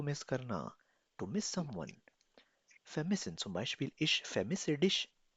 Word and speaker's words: vermissen: Das heißt vermissen. Pronounce with me. Vermissen.